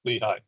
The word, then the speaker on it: Lehigh: this correctly is it Lehi or Lee is it Lehi is that how you say it yes Lehi thank you okay so Lehigh